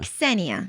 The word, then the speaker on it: Ksenia: Ksenia And how do you pronounce the surname?